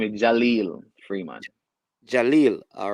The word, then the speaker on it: Jaleel Freeman: pronounce your name? My name. That's Yeah, my name is Jaleel Freeman.